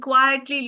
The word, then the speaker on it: quietly: Okay, quite and quietly. Look at the difference in the spellings. Quite, Quite, quite large, quite enormous, right? And quietly. Quiet is spelled Quiet, and there's a distinction in the pronunciation.